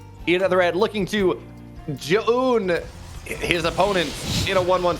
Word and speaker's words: Zoun: Like, okay, we know how we pronounce his name, right? It's Zoun.